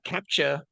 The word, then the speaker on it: captcha: wasn't sure okay so I've been pronouncing this wrong for over a decade because I've been saying Apache for 100 sure anyway bro I just had a I had a captcha had a I had